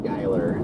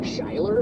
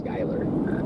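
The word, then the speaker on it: Schuyler: Yeah, it's it's actually pronounced Skyler, but uh yeah, DL literally this morning we were drive we were driving back from the airport and he's like, "Isn't that pronounced like Shyler?" And I'm like, "No, it's it's Skyler."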